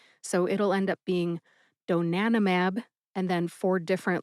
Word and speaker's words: donanimab: Emphasize nan. See if you can hear that syllable emphasized when I say it again.